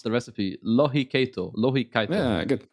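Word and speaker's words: lohikeitto: I'm gonna try to pronounce the recipe. Lohikeito. Yeah, good. Lohikeito.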